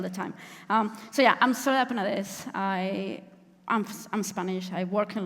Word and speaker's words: Soledad Penadés: So Spanish names have this thing where most of the words have the stress on the last syllable. So it was like coaching Mark with like ta ta ta ta ta ta. That's how you say my name, and it actually worked.